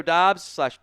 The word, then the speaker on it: Doubs: Uh Romeo Dobs, Dubs, he both pronunciations.